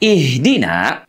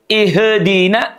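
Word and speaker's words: اهدنا: Huruf H pada kata ihdina diucapkan dari pangkal tenggorokan kita. Aqsal halki. Ha, hi, hu. Bukan ha, hi, hu, ba.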